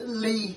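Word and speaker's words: Legh: And one of the favourite stories that I can remember was the name was Lee, L-E-G-H.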